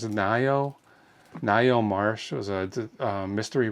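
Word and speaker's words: Ngaio: It's spelled N G A IO. And I think it's Nio.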